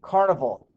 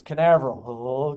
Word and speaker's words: Canaveral: watch the launch at cape carnival chris it's canaveral okay the rocket engines